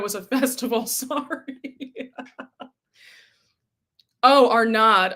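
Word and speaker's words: Arnaud's: Oh, our nod. Okay. The S is silent. Unless it's not French.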